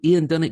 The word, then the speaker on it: Ian Dunnett: Welcome to the show, Ian Dunnett Jr. How you doing, buddy? I pronounced that right?